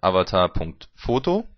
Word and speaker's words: avatar.fo.to: und serven auf http/avatar.fo.to ausgesprochen heißt es in avatar.foto und hier sehen sie